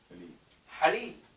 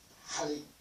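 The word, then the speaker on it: حليب: If you say that word as halib, which is a lot of people say it, halib basically means nothing. There's nothing in here. But I want halib. I want milk. Ha. Ha. It's not halib.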